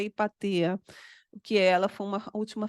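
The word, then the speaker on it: Hipátia: relação ao que aconteceu a hipatia porque ou ipaa não sei como que você pronunciam isso em português em grego é ipaa que ela foi uma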